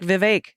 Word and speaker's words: Vivek: Vivek is pronounced like Vivek. It rhymes with mistake.